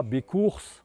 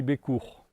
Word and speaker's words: Bécours: Sachant aussi qu'en occitan, la deuxième consonne en fin de mot ne se prononce pas. Donc on ne dit pas Bécours, on dit Bécourt.